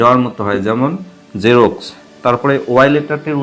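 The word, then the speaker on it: Xerox: যেমন জেরক্স। তারপরে ওয়াই লেটারটির উচ্চারণ কখনো রসই এর মত হয়।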